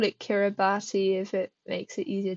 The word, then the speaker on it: Kiribati: bass um or if you could call it kirati if it makes it easier to memorize I might call it that just to help memorization but it's pronounced KY bass I actually looked up uh so in the